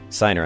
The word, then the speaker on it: Siner: dining room living space of Nathan and Ashley signer i'm pronouncing your name correct yes all right thank